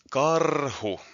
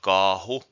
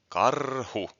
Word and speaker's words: Caru: live with this anymore CaRu special theme not Kahu CaRu it's a short a r r then short U at the end CaRu CaRu CaRu special